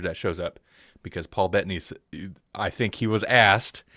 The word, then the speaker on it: Bettany: like that people paul bettany i think it is betting at least that's how i hear people pronounce it i he kind